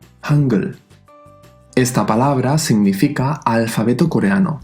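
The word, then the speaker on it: 한글: Hangul. Esta palabra significa alfabeto coreano, que es lo que estamos aprendiendo ahora. Fíjate que en medio suena mucho más suave, casi realmente como una G de gato. Hangul.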